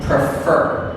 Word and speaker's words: prefer: Prefer has 2 syllables. Prefer. Now, in verbs and all words that have 2 or more syllables, one of the syllables has stress. It means we say this stronger and a little slower. Here, the final syllable is fur. And the 2 syllables are fur. The stress is on fur.